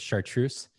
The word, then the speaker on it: chartreuse: green and yellow and came back with chartreuse that is the pronunciation I know that because